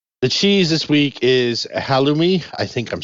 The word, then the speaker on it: halloumi: It's pronounced halloumi.